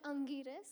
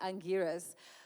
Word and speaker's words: Angiras: So as we saw, can you please help me pronounce this as well? Angiras, right? Yeah, it's called Angiras. Angiras, okay, and get it right, guys, Angiras.